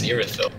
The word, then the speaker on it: Irithyll: It's not Ethereal, it's Irithyll.